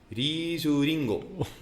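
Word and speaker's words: リースリング: It'd be Risuringo.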